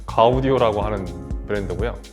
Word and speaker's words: Gaudio: 오디오 록 아닙니다 4 가우디 오라고 하는 그랜드 구요 저는 사실 이거 들었을 때 당연히 지오디 온줄 알았어요 근데 지금 좀 살 물어봤더니 발음은 가우디 오라고 하네요 아우디 어는 이제 마틴